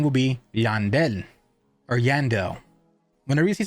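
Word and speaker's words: Llandel: is teally a y whenever you see two L's on anything that's Spanish you pronounce it with a Y so for example if a person name is l l a n d e l it's not landel their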